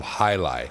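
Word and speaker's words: jai alai: What about that game that's played not too very many places and spelled very strangely, but spoken Jailai? It's Jaialai is how it's spelled, but it's called Jailai.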